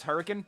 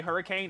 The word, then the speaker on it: Hurricane: Also known as Hurricane. You don't say Hurricane, it's Hurricane. There's a baby. Why is there a baby there? Yeah, this is Hurricane.